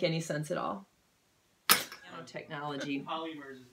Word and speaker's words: polymers: did that make any sense at all technology polymers is not a thing what polymers not polyurethane